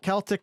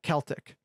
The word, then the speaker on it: Celtic: of the show yeah celtic not celtic uh it is spelled with a c although pronounced like a k i don't i don't